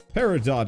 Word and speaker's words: peridot: based on brief research standard american and british pronunciations include the t google pronounces the t alright peridot it is hit him